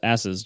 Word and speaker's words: Asus: It's pronounced asses, John.